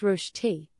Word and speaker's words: Rösti: Rösti, pronounced Rösti, is more than just a side dish, it's a cultural icon.